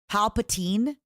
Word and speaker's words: Palpatine: But Palpatini is proper. Apparently, it's Palpatine.